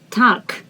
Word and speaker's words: Tag: day good afternoon guten tag tag is day i want to remind you that in the end g is transformed into k and this word is